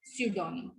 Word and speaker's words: pseudonym: यहाँ पे साम और psychology and here we कैन यूज pseudonym.